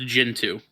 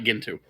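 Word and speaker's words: Gentoo: been pronouncing it right it apparently is pronounced jintu not gintu I should look at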